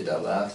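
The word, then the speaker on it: דבר: est le verbe créateur, et Dabar, bon, prononcé Dabar, qui est la parole sous forme humaine.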